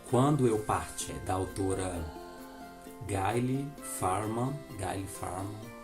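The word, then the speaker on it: Gayle Forman: Gente, temos também esse livro aqui, se chama Quando Eu Partir, da autora Gayle Farman, é assim a pronúncia dele.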